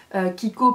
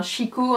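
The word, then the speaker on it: Chicco: Kiko pas avec un K. Kiko CH enfin Chico he pour ceux qui prononcent en français.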